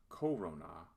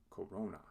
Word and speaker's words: corona: this word illustrates how the accent shifts to the second to last syllable in a word of three or more syllables when the second to